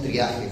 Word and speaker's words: triaje: se llama Tri triage viene de francés triage acá le decimos triaje porque lo pronunciamos como se escribe el triaje es un